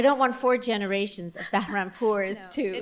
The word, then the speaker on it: Bahrampour: Okay, this She's going to re-pronounce her name correctly. It's so beautiful. I don't want four generations of Bahrampour's, too.